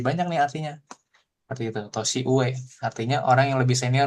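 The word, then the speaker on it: 年上: Tosi uue artinya orang yang lebih senior dibanding kita.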